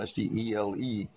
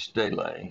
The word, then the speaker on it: stele: It looks like steel, S-T-E-L-E, but the Greek word is stele, so I just pronounce it stele.